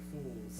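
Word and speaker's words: Fuuls: It sounds like Fools.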